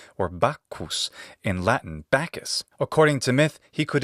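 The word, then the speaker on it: Bacchus: also known as bakos or bakus in Latin bakus according to myth he could intoxicate his followers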